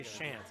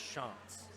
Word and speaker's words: Shantz: I originally did as well, but in his paperwork it told me exactly how to say it, because I used to say Shantz. It's Shantz.